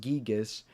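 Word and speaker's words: Giygas: Gyigus, technically pronounced Gigas.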